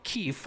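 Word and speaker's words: Keef: thief by the way keith i'm not mispronouncing keith no keith k e f the thief 90 dogs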